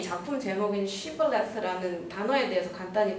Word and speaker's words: Shibboleth: 사람들은 다 가려내서 죽이려고 shibboleth라는 발음을 해봐라고 했고 이제 그 에브라임 사람들은 SH 발음을 못했고 시블렛이라고 발음을 하게 된 거죠.